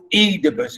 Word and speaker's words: Oedipus: my fame i am edibles and we say edipus we pronounce the word edibus and stress on the first syllable we say indeed okay